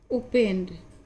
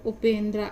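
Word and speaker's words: Upendra: तो उपेंद्रा इंग्लिश में अगर नाम पढ़ा जाएगा, जितने भी द्रा शब्द करके होते हैं, तो उपेंद्र हिंदी में पढ़ते हैं, लेकिन इंग्लिश में ये उपेंद्रा ही पढ़ा जाएगा।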